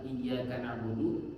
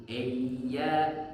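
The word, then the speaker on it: إِيَّاكَ: I Wa iyaka nastain jangan eyya jangan eyya tapi I iyakana jangan eyya j e berbuni e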